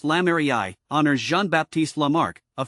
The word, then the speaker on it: lamerei: the plant's thick base lame Ray pronounced Lami honors Jean Baptist Lamar